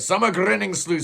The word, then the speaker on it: Sommergryningsljus: there you go that's how you say it summer grinning slle well the album opens up up with a